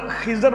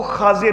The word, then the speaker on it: خضر: عموماً ہم لفظ خضر بولتے ہیں، لیکن جو صحیح تلفظ ہے نام کا وہ خاضر ہے. خا کے اوپر زبر ہے، زاد کے اوپر زیر ہے، خاضر.